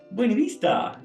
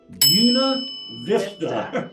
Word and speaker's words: Buena Vista: much any other place you're going to say that as Buena Vista okay that's not the way it said okay you definitely know if you're out of town or if you go down and you say hey how y'all doing Buena Vista yeah because it's Yuna Vista okay Buena Vista so